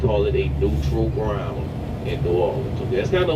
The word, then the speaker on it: New Orleans: from New Orleans okay we don't really say it like that most locals we kind of like drop the OA it's kind of like a aw New Orleans okay all right cool